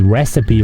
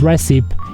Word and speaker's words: recipe: Or that time in high school where I had to teach my teacher how to say the word recipe right. It's not recipe, it's recipe.